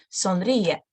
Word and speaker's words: sonríe: Okay, sonríe, please, smile. Yeah, it's like an imperative form, smile. Sonríe. It's not sonríe, sonríe, both of them.